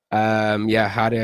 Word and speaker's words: Harea: Harea is like a Romanian name. Oh. Yeah, but I don't pronounce it like that, obviously. I've always just said Harea since I was a kid, just for ease of